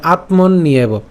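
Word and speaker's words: আত্মন্যেব: আবার একটা একার আছে, তা আমরা জানি যে জফলা যদি থাকে তখন সেক্ষেত্রে আমাদের উচ্চারণটা কেমন হবে? ইয়র মতো হবে। তাহলে ইয়র মতো হলে এবং তার সাথে যেহেতু আমাদের একার আছে, তাহলে উচ্চারণটা কী হয়ে যাবে? ইয়েব, ঠিক আছে? মনে রাখতে হবে ইয়েব। তাহলে আত্মন নিয়েব, একসাথে উচ্চারণ করলে আত্মন নিয়েব।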